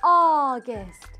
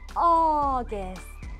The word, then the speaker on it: August: August. 발음은 O로 시작하는 것처럼 들리죠? August.